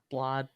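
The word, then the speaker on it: Blaidd: blood his name is looks spelled like blade but it's yeah pronounced like something else blood yeah so I um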